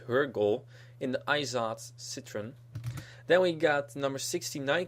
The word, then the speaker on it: Citroën: So here we got Denise Van Leeuwen in the number 85 car in Citroën. Citroën. That's how John Cialdino would pronounce it. In French they would say Citroën.